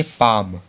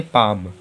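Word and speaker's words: palm: तो एम के पहले एल ए रहा है तब भी हम लोगों का एल साइलेंट है तो इसे क्या पढ़ेंगे पैम क्या पढ़ेंगे पैम तो हम लोगों का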